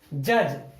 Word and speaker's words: judge: अगला है जज, JUDGE, डी के बाद आ गया जी, डी यहां पे साइलेंट हो गया।